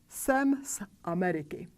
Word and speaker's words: jsem z Ameriky: Because the vocal cords don't vibrate when we pronounce the vowel A in Ameriky, we don't want the vocal cords to vibrate when we pronounce the sound in front of it. Therefore, we pronounce the voiceless pair S instead of Z.